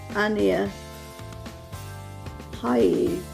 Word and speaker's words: Ania Haie: are from the brand now I would pronounce that Ania Haie, A-N-I-A, that sounds like Ania to me, H-A-I-E, K-E, Haie.